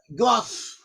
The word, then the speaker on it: Gad: But they have an ancient way of pronouncing Hebrew, and some of them pronounce the word Gad as Goth.